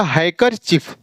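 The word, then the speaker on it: handkerchief: ऐसे यहां हैंड करचीफ, इसमें क्या है, डी के बाद क्या है, के है, तो यहां पर डी साइलेंट हो जाएगा, तो क्या हो जाएगा, हैकरचीफ।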